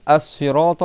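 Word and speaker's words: الصراط: C'est pas donc assirata avec un sad.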